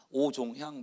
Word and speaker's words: 오종향: 저는 오종향 목사라고 합니다. 보통 뇌종양 목사냐 이름을 잘 못 알아들으면, 아니면 서초동의 오정현 목사냐 이렇게 하기도 하는데 이름 발음 좀 비슷하죠. 오종향입니다.